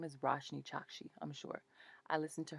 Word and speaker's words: Roshani Chokshi: So our story is called Forbidden Fruit by Roshani Chokshi. Roshni Chokshi. Her name is Roshni Chokshi, I'm sure.